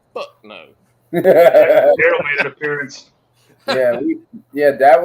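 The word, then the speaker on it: Duryl: Daryl made an appearance.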